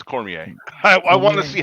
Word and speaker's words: Cormier: knew you were going to say that it's Cormier I I want to see how you pronounce it I'm not familiar really Cormier is